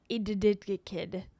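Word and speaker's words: Edikted: It's spelled like the stupidest way possible. Addicted. It's spelled EDDI something, which doesn't make any sense to me, but hold on.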